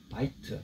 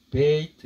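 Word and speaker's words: בית: 벳이란 말은 바이트 또는 베이트, 어떤 뒤에 뭔가 문자가 하나 붙으면 베이트 이렇게 발음합니다. 베이트 또는 베트.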